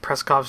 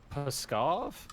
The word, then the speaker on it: Pskov: Well, no matter what, Preskov's no longer a useful military installation. Preskov? Where's that? What you're attacking right now, Preskov. Pskov? Pskov, yes. There's no R in that word.